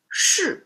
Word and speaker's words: 士: The two soil and this one is sir pronounced as sh looks so similar.